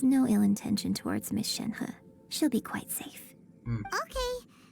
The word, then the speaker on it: Shenhe: Shenhe.